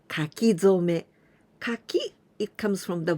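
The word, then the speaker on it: 書き初め: And this is called kakizome. Kaki, it comes from the verb kakimasu, to write. Zome, here we pronounce zome, but this kanji, it is hajime, in the beginning.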